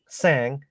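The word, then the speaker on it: Tsang: it's allen a-l-l-a-n and my last name is like a silent t sang but it's t for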